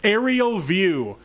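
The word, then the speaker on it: Ariel View: Aerial View, but it's spelled like the name Ariel. A-R-I-E-L.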